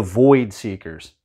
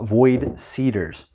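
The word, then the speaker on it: Void Seeders: next let's do the void seekers void seat cedars i always thought it was seekers jesus andrew uh void cedars okay yeah we're just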